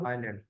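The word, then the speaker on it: island: Is silent in आइलैंड, तो आइलैंड जब आप पढ़ते हैं तो इसमें एस जो है ये आपका साइलेंट होता है, ठीक है। तो इस वजह से इसको हम पढ़ते हैं आइलैंड।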